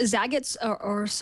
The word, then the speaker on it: Zagat: Google has relaunched Zagat's, Zagat, I guess is the right way to say it.